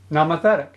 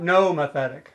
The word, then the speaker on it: nomothetic: na ma fat chick nama thetic and it's not Noma thetic take note of that it's even though it's spelled mo its na na ma thetic nomothetic all right it's 12:57 p.m.